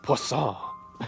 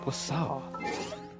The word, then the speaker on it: Poisson: I don't think you pronounce the last N. Poisson. Poisson. It's like croissant.